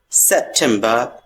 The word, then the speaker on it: September: Ending the word R is silent here. September.